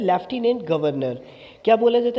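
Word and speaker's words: Lieutenant Governor: Guys ये थोड़ा सा कंफ्यूजिंग शब्द है बिकॉज इसको इंग्लिश में लिखा तो जाता है ल्यूटिनेंट गवर्नर, लेकिन इसकी जो प्रोनाउंसिएशन होती है उसको ल्यूटिनेंट न पढ़ के इसको बोला जाता है लेफ्टिनेंट गवर्नर।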